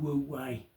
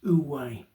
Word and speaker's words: Wu Wei: like to talk about the topic of Wu Wei, or as it's often pronounced, Wu Wei. I'm not exactly sure which one comes across best, but basically spelled W-U-W-E-I as it's transliterated into our text anyway.